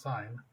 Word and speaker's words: sine: sign it look little look like sin but this still pronounced sine cosine is gonna be